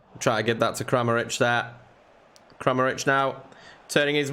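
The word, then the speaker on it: Kramarić: Not Karamak. Kramaric. Getting his name wrong again. Yorkie getting his name wrong again. It's Kramaric. Kramaric.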